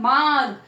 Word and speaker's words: मार्ग: Sound जब बोलते हैं तब मार्ग, माँ के बाद र का साउंड आता है, तो ये जो मात्रा है अगले वर्ण के ऊपर की ओर लगाई जाती है।